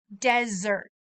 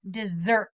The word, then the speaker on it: desert: throughout the world desert think about that T at the end when you pronounce desert I want you to try desert great job make sure you don't say dessert this is desert desert